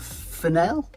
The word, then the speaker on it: Fennell: by I I know we disagree on the pronunciation but Emerald fenel Fel yeah Fel or fenel I mean I like to call it fenel cuz I like to